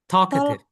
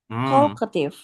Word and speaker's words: talkative: Talkative. Talkative. H. Talketif. Alri. Miss Maya. Eh, if you have the word talk, right? T a l k. Right. Yes. Do not pronounce the L.